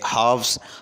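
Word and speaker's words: halves: इसके बाद है हाफ्स, हाफ्स जो है ये प्लूरल है हाफ का, यानी आधा जिसको कहते हैं। इसके अंदर एल जो लेटर है ये साइलेंट है।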